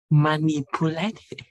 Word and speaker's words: manipulate: Đấy, manipulate rồi phần nghĩa này, manipulate đánh trọng hai với chữ ni, manipulate nghĩa thì là động từ thao tác.